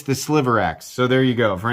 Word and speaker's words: Sliverax: This is the Spyderco Sliverax, not Silverax. I keep wanting to call it the Silverax. It's not the Silverax. It's the Sliverax.